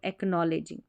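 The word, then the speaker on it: acknowledging: और यहां पर यह के एन है ना इस साथ में रहता है तो के साइलेंट रहता है। तो एकनॉलेजिंग ठीक है एकनॉलेजिंग यहां पर अगर देखेंगे तो यह के साइलेंट है सी को क पढ़ा जा रहा है।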